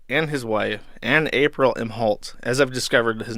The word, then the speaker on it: Imholte: Central Standard Time arada and his wife and April MH halt as I've discovered his name is pronounced MH halt uh were arrested for uh two different charges